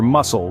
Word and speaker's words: muscle: is silent or consider muscle where the C is as quiet as a mouse yet it helps to